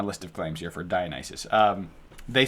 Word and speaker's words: Dionysus: Dionysus. Dionysus. Thank you for pronouncing that.